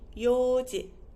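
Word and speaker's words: 四時: So 4 o'clock would be yoji. This one is, let's say, regular. So we don't say yon, we say yo. So yoji, yoji.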